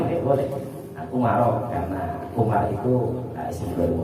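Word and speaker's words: عمر: Bacanya Umar ya, karena ini isim ghairu munsharif. Isim ghairu munsharif itu kan ketika dalam keadaan i'rab jar itu dengan fathah. Itu isim ghairu munsharif. Jadi enggak boleh dibacakan Umarin, enggak boleh.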